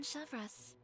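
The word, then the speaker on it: Chevreuse: to all that trouble I know they're captain chevas Oh that's how it's pronounced wait how do you the captain of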